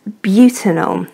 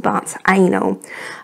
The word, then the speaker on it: butanol: But this is pronounced butanol, not but anal.